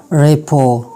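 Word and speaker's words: rapport: Some random words having T silent, कुछ और भी वर्ड्स ऐसे हैं जिनमें टी साइलेंट हो, जैसे कि आसमा, रेपो, रेपो, आफन.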